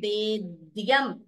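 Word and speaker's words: त्रयीवेद्यम्: उत्तमम् सो त्रयी वेद्यम please note the dvitvam here त्रयी वेद्यम हृद्यम त्रिपुरा हरमाद्यम again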